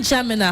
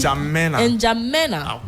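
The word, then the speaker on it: N'Djamena: of ch is it jamina how do you jam inja that's how you pronounce it jam not jamina yes inja what does it mean in jamina inja I think it's in Arabic.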